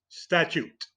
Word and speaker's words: statute: a new word today the word of the day statute with t a t sound at the end uh we have textbooks